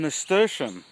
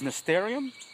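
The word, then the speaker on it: nasturtium: sinned it's edible okay so I found some mr. Shin in the previous video I've referred to it as mysterium but done some research and it's cool it's pronounced mr.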